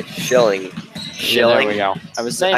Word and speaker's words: Schilling: Shilling.